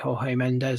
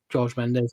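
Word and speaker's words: Jorge Mendes: closely linked to obviously Hay Mendes or George Mendes depending on how you want to pronounce it.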